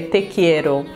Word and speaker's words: te quiero: na espanha te amo você fala se a pronúncia é te quiero e quando ele falou te quero para mim